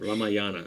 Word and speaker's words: Ramayana: Ramayana, am I saying that right? Yeah, you're actually saying it right.